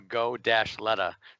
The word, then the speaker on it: Goleta: I remember having to phonetically spell Go-Leta.